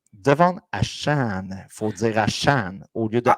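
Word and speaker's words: Achane: comme du monde donc c'est pas à chain c'est à Chan Chan rime Monster vous avez une belle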